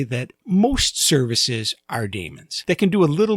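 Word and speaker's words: daemon: program processing Damon that very last word I pronounced Damon some people pronounce it demon both ways are considered correct but I choose to pronounce it Damon because I don't like the idea of having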